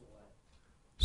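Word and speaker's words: Ouellette: spell it actually uh my name is detective wette of the Raleigh Police Department wette is spelled o u e l l e tte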